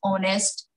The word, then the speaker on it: honest: But here H becomes silent. We pronounce is honest.